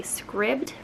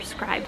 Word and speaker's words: Scribd: I don't know whether it's Scribd or Scribed. I hear people say both, but the way it's spelled, it makes me want to say Scribd, so that's what I always say.